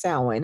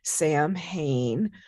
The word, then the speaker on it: Samhain: october 31st it's pronounced samhain it looks like sam hayne which um is not a guy's name just laughing because we